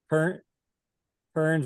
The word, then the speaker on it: Kearns: Rhymes with Kearns rhymes with learns.